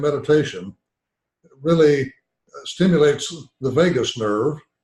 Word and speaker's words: vagus: it really stimulates the vagus nerve the spell VA GU is pronounced like Las Vegas which then to tributes